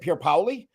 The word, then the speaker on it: Pierpaoli: and he said um he said Pier poy and I was like wow you nailed it I do the same